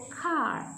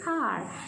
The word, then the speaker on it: car: See our car, you have to pronounce it as car. Okay, don't say car, say car. The R should be silent.